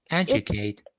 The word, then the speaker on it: educate: have a clear yeah educate it's a little bit softer sounds a little bit softer leaning towards j almost yeah it's almost like a j and in pic exactly